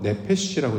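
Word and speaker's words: נפש: 우린 이제 영혼은 육신과 정신 세계를 따로 분리해서 육신이 따로 있고 영혼이 따로 있고 요런 말로 번역을 했는데 성경에서 말하는 영혼 네페시라고 이제 히브리 발음을 하는데이 네페시의 개념은 뭐냐면 하나님의 살아 있는 존재를 가르키는 말입니다.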